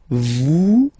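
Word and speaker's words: êtes: Okay, then the next one is coming vet. Same thing here. Notice that final S is not pronounced at okay and then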